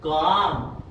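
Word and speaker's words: comb: जैसे कि बॉम्ब, एम के बाद में बी आया है तो बी साइलेंट रहेगा, बॉम्ब, कॉम और थम, यहां पर भी साइलेंट रहेगा।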